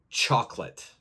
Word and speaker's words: chocolate: look at the word chocolate now most people want to pronounce all of the letters so it's c-h-o-c-o so this second O A lot of people like to pronounce it so they will